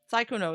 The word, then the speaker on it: Sykkuno: Sykkuno is how you pronounce it.